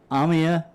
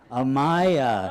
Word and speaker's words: Amaya: Amia, say it again. Amaya. Oh, you guys know, yeah. So the emphasis on the second syllable.